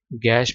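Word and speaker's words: gash: cut incision गैश slit slice जख्म इसका गैश नहीं पढ़ना गैश जिस तरह हैट एच ए टी हैट की आवाज आती है ना ए की जिस जिस हैट में जो ए की आवाज आती है ना वही गैश में बात लिख आनी है गैश नहीं है इसमें गैश गैश गैश ठीक है अच्छा जी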